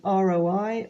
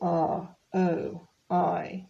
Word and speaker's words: ROI: means you have an Roi of a hundred and fifty percent okay so and when you're speaking you don't sort of say r o i it becomes Roi all together Roi TBD to be